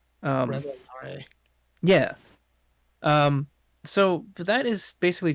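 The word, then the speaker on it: Resol'nare: I thought I it know was like that Rizalnare or something. it is Rezolnare. At least Yeah. that's how it's pronounced in the SWOTOR game. Rezolnare.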